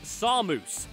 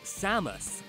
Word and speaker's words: Samus: In the first two games, Mr. Ran's first name was announced closer to the Japanese pronunciation as Samus. But from Brawl onwards, it adopted the more Americanized Samus.